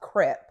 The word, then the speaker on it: crepe: Yeah, so the it's the creep crepe skin. I think it's pronounced crepe.